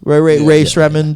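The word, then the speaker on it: Rae Sremmurd: You know that song, Ray Shremmerd. Yeah. So how do you say? Quick sidebar. How do you say it? Ray Smembered. Ray Shremmer. Ray. Yeah, it's eardrummers backwards. Yeah.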